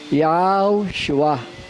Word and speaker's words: Yahshua: Kaya wala naman letter G sa wikang Hebreo. Kaya yung Joshua, pag sa Hebrew form ang Joshua, Yahshua. Sabi sa amen. Yan ang tamang pronunciation.